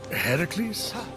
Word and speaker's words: Heracles: Heracles? Yeah, that! That is how it's supposed to be pronounced.